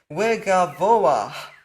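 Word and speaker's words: וְגָבֹהַּ: So for example, this word at the top is pronounced wegavoah. You pronounce this hey at the end as a guttural hey.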